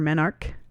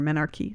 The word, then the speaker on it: menarche: When a woman begins to menstruate, when she has her menarche or menarche, depending on how you pronounce it, it takes several years for her menstrual cycles to mature.